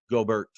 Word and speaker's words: Gobert: Rudy Gobert.